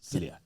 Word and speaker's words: Cilliers: You don't say the S at the end. It's Cilliers.